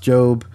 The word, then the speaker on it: Job: that aren't familiar it looks like job it's pronounced job right so uh 18th book of the Old